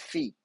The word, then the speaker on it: phi: and then we have feet it's not phi phi is a um a wrong misprint it's a mispronunciation it is fee um so rho theta